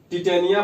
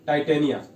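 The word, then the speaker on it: Titania: तो देखिए इसका प्रमुख ग्रह जो है टिटेनिया बोल सकते हैं, या फिर उच्चारण कैसे भी कर सकते हैं, टिटेनिया या फिर टाइटेनिया, दोनों में से कोई भी उच्चारण कर सकते हैं।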